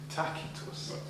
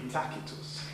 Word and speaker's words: Tacitus: tus didn't think so tus he would pronounced his name takus that's not the case is it well he is a Roman the Romans whose hard seats it would be takus you know it's been